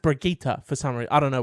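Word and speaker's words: Brigitte: only for me because it's like dog it's it's spelt Bridget it's Bridget but it's pronounced brigita for summary I don't know why Wraith from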